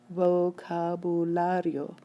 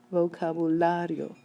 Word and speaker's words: vocabulario: needed let's try these vocabularo vocabulario this word ends in a vowel it should be stressed on the next to last syllable it is